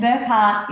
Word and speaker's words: Burchgart: front of me and burkart is the way you actually pronounce my surname okay Gart is how it sounds or is spelled and that is um